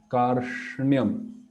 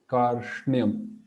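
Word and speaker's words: कार्ष्ण्यम्: Karshnyam. Like see, when we are saying nyam, we go fast, nyam. But here we stop for a while. Karshnyam.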